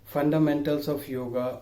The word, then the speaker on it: yoga: Actually, it is a wrong pronunciation. There is no such word exist yoga in any ancient book. Yoga is a English pronunciation of real word yog.